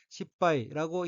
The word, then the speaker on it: 失敗: 셋째 줄 오른편 첫 번째 어휘는 한자가 한국어로 실패이고 각기 이를 실, 패할 패자로 되어 있고 일본어로는 십바이라고 읽으며 십바이는 실패, 실수라는 뜻의 명사 또는 수로 자동사이고 동의어로서는 식구지리, 실패, 실수, 실책이 있습니다.